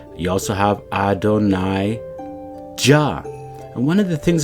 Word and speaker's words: Jah: And that's why we believe that this name Jah has been hidden, and not just, in terms of mispronounced with a Ya or an Aya, but it's actually being suppressed, Adonai Jah.